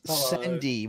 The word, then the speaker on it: Sendy: No, it's Sendy with an S, not Zendy.